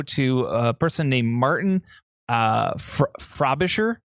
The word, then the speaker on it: Frobisher: And this has to go to a person named Martin Frobisher. Frobisher, I think is how you say his name.